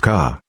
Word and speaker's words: Ka: by the name of ka which is pronounced like your letter of the alphabet k and is it is